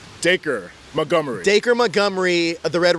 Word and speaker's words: Dacre: So Stranger Things, the actor that's playing the Red Ranger, and I said his name wrong. I said Darce. Obviously, it's not Darce. What's his name? Dacre Montgomery.